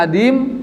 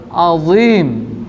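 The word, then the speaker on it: عظيم: Tapi kalau dibaca adim berarti adimnya artinya kulit. Kalau pakai ain, ain dal ya mim, adim artinya tidak ada. Bahaya tuh. Ya, makanya perhatikan bacanya Subhana rabbiyal azim. Ya.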